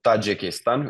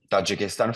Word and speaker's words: Tajikistan: like this in finish so Tajikistan it's it's pronounced the exact same and then the language